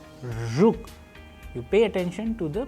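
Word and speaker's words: жук: The letter R can be practiced with an English word approximation as we use R in the word pleasure, pleasure. And in Russian we have used another example like zhuk, zhuk.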